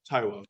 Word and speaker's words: Taiwo: Town Council you saw we put the tie in because we thought you know if someone see the tight but anyway so that's how you say my name taiwo just think about that